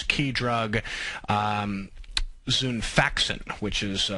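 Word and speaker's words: Xifaxan: possible new use for its key drug um zun faxin which is spelled x i f a x an kind of hard to uh pronounce but that's its uh uh key drug zun faxin uh s salx Pharmaceuticals makes drugs that treat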